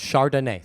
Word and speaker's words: Chardonnay: is it called Chardonnay no it's Chardonnay three syllables I didn't know athlete